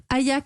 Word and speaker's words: Ayaq: Ayak, ça s'écrit A-Y-A-Q.